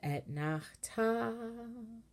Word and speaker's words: Etnachta: And then Etnachta. So the Ta of Etnachta has the main melody because that word Etnachta, excuse me for the wiggly notion, guys. The Ta in Etnachta is the accented syllable.